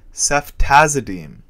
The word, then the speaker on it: ceftazidime: And the dime, which is a 10-cent American or Canadian coin, which in this odd case will be pronounced as deem, represents ceftazidime.